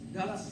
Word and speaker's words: Gorz: Est-ce que je le prononce correctement? Gorz? Gorz.